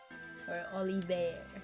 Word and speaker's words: Olivier: minstrels hometown that's right Olivier I should say yes Olivier Ali Bey but you pronounce it English right English e Frenchie you know I mean like the way they say it is all Evert right yes so that's